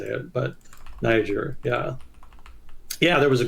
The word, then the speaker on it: Niger: was going down in Niger Google says it's pronounced yeah you said it right Niger Nigeria I always want to say Niger I don't